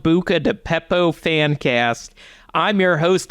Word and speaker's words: Beppo: We're here to talk Peppo, Bucca di Beppo to be precise. None of that Peppo nonsense. No, it's Bucca di Beppo.